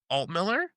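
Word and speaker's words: Altmiller: Alt Miller. There you go. You never know sometimes like I get like I get Al Miller.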